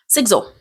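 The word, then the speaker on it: Sigzil: Sizzle. Sizzle. Sigle. That's how you say it.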